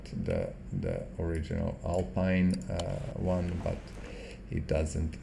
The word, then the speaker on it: Alpine: altin or sometimes or alpina or whatever just ignore it it's actually alpine if you're looking in english i think it is uh pronounced like that but you know in